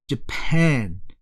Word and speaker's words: Japan: 자, 일본 나라명을 말할 때는 뒤에 강세가 있어요. 그래서 Japan 뒤에 강세가 있습니다.